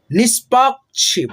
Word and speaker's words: निष्पक्ष: निष्पक्ष, प के मतलब बाद में आधा क का उच्चारण और छ से पहले आधा क का उच्चारण, ठीक है, निष्पक्ष।